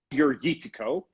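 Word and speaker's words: Agiorgitiko: Agorgitico.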